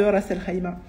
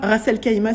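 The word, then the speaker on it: Ras al-Khaimah: nom de l'émirat de raselima qui ne se prononce pas racel Kaima s'il vous plaît et je vis auxmira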